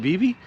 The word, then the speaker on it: Vevay: If you haven't seen them, come to southeastern Indiana to a town called Vivv, or some people pronounce it Viv. Locals like me pronounce it Vivie.